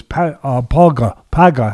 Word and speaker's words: Pauga: What was his opponent was Paga. How do you pronounce it? I want to make sure I'm saying it right. Paga, right? I would call him Zach Paga. Yeah, Pauga.